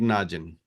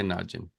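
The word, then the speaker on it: ناجي: But without al you'll simply make it najin. The one who escaped the disaster. The real way to say there was naji. But you cannot say pronounce it correctly. So you'll simply say najin and then is basically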